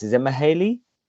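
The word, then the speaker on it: Mæhle: Is it Mahale? Male. Okay, Male. just Mailer. Yeah, okay, so I'm thinking female, male. Is it just male? Just male. Male, like with a hard L.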